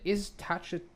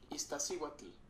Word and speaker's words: Iztaccíhuatl: Eckenstein joined him later that year, and together they climbed several mountains, including the Iztacha. Okay, hold on. I'm gonna need to press the Wikipedia page so I can pronounce this right.